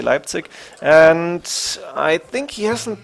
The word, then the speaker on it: Leipzig: on the move to Leipzig pronounced in English was I'd say Leipzig and I think he